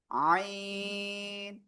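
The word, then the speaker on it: عين: এই একই জায়গা থেকে গলার মধ্যখান থেকে এটা গলাটা চেপে আপনার 4 লিফট টেনে উচ্চারণ করতে হবে এই অক্ষরটা কিন্তু। আইন আইন আইন আইন এরকম বলা যাবে না।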